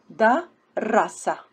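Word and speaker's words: دَرَسَ: The way we read the second one, da rasa, darrasa, darrasa, darasa, darrasa. Both of them different pronunciation and different meanings.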